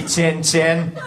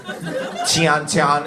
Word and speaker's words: Tian Tian: Sorry, Tin Tin. Tian Tian. It's spelled Tian, Tian.